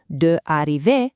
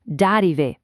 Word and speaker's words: d'arriver: We smash them together for smoother, much more native-sounding pronunciation. So, instead of a clunky d'arriver, it's nous venons d'arriver.